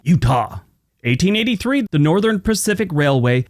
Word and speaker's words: Eutaw: And it's not spelled Utah like the state, it's spelled E-U-T-A-W, Utah.